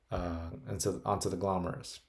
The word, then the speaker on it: glomerulus: liquid in the capsule is putting onto the glomerulus.